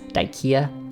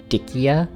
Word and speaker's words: Dyckia: Excuse my German, but his name was Josef zu Salm Reiferscheidt Dyck, so it seems more correct to pronounce the name as intended Dyck than add the ending ia for Dyckia.